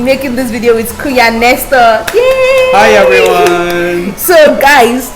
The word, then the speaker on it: Nestor: So guys, I am super duper excited today to be making this video with Kuya Nestor.